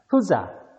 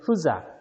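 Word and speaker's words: Goedzak: 후사크라고 읽지는 마세요. 너무나도 한국스러운 발음인 것 같습니다. 후작, 알겠죠? 후작 되겠습니다.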